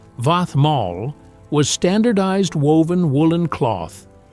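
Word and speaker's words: vaðmál: Vadmal, pronounced Vathmal, was standardized woven woolen cloth.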